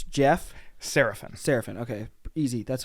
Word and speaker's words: Serafin: adversity king special guest today now help me pronounce the last name it's jeff serafin serafin okay easy that's how i thought it was